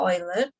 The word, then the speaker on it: Euler: Kalau ini EU-nya dibaca OI. Kalau yang ini dibacanya apa? Dibacanya U. Kenapa yang ini orang saya lupa Swiss gitu jadi dibacanya Euler.